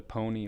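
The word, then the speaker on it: Pwnie: you're referencing was the the pony awards and it's spelt p-w-n-i-e and it's it's kind of a play on words for or a play a silly way of spelling owned and um yeah it's kind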